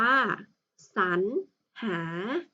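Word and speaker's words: สรรหา: ตรง นี้ นะ คะ รอ หัน ของ เรา ก็ จะ อ่าน ออก เสียง อัน คำ นี้ อ่าน ว่า สรร หา คำ ต่อ ไป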